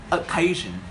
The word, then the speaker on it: occasion: Guys, just remember that we pronounce occasion with the word stress put on the second syllable.